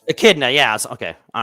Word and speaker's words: echidna: it's spelled it it shouldn't it but it's pronounced Echidna Echidna yes okay all right that's it you are